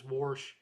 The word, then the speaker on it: wash: People of my grandparents' generation pronounce wash as warsh. Yeah, my mom pronounced wash that way.